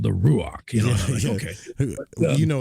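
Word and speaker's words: רוח: But um yeah, it depends on which dialect camp you're in.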